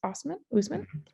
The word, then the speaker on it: Oseman: So our person would like some additional book recommendations, and they loved the book Loveless by Alice Oseman. Usman. I feel like Usman is the proper pronunciation of that.